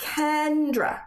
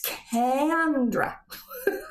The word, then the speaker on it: Kendra: name all the time I'm not Kendra it's candra okay let me get